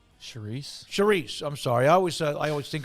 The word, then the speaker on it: Chriss: Charisse.